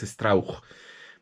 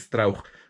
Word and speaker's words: Strauch: Su papá era alemán, entonces la pronunciación correcta, yo siempre tuve esa duda, porque la pronunciación correcta es Strauch, pero pues en Latinoamérica